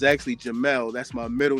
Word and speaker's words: Jamil: But actually um my mother pronounced it she spelled it J A M I L but she pronounced it Jamal. So, it's actually Jamal.